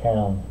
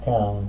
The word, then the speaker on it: Köln: You pronounce it Köln.